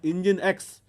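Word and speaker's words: nginx: at that is coming we pronounce it as engine X.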